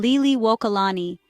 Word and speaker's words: Liliʻuokalani: Empress Lily Wokalani Hawaiian pronunciation Liy Walani Lydia Liu Loku Wania Kamaka Aha September 2nd